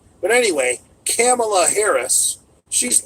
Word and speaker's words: Kamala: c not a k with a K it's Kamala but anyway Kamala Harris she's not even black or she had